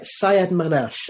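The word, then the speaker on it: Sayyadmanesh: So, but I can't pronounce his name, so I'll let you say it again if you want to. Yeah, Sayed-Manesh.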